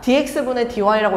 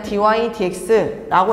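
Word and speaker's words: dy/dx: 그리고 또 하나는 좀 재밌는 표현인데 dydx 마치 분수처럼 보이지만 분수는 아닙니다. dx분의 dy라고 읽으면 안 돼요. 이거는 그냥 dydx라고 읽어 주시고 얘가 의미하는 거는 y y를 x에 관해서 미분하세요라는 의미를 갖고 있습니다.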